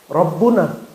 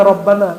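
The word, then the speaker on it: ربنا: Rabbuna. Tapi kenapa dibaca Rabbana? Karena di depannya ada ya tapi nggak dibaca. Ya-nya disembunyikan saking dekatnya kepada Allah Subhanahu wa taala. Maka dibacanya langsung Rabbana. Rabbana.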